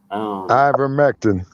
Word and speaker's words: ivermectin: them uh the mech of oh i can't pronounce it it begins with an eye ivermectin yeah i remember um which is a it's